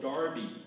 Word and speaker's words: Derby: Joseph Hull Juni of Darby Derby was quite often pronounced that way and by attaching the